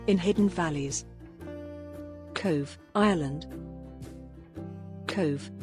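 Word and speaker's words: Cobh: Cove, pronounced Cove, has welcomed many guests, most notably the millions of 19th-century emigrants who boarded ships heading for a new life in America.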